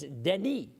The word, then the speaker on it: Denis: Now, that's interesting because Dennis with 1 N, as I spell it, is French-Canadian, and it's Denis.